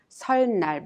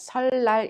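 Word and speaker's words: 설날: pronunciation of saturn night we do not pronounce solenoid but solid light instead because of the final consonant year in the first syllable is her the consonant mean in the second syllable tends to be pronounced in the same sound reel so you pronounce its hollai this is the way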